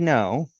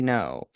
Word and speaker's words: Ngo: No, by the way, the name is spelled Ngo O, but I'm going to just pronounce it no for the purpose of reading uh this uh on Andy.